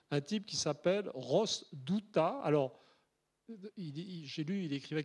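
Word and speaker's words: Douthat: New York timbres un type qui s'appelle Ross douta alors j'ai lu il écrivait quelque part que même les Américains ne savent pas prononcer son nom ça s'écrit des o u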